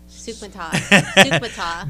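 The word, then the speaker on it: Soukhamthath: Is it, how do you pronounce it? Sukasathan or something. Sukumatath. There you go. Sukmata.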